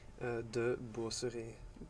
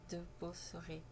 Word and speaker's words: De Boosere: C'est comme ça qu'on prononce Oui, son nom. tout à Et fait. quel est ton nom de famille? De Beauceret. De Beauceret.